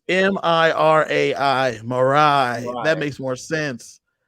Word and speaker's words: Mirai: It's Mirai.